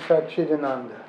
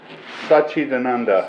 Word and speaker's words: Satchidananda: This man, the Swami, how do you pronounce his name? Swami Satchidananda. Satchidananda. Satchidananda.